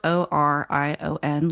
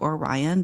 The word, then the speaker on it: Orion: It's spelled Orion, like Orion, but they pronounce it Orion.